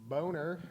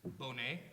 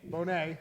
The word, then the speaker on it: Bonet: I've got Boner. Is that the right pronunciation? No, it's Bonet. Bonet, okay.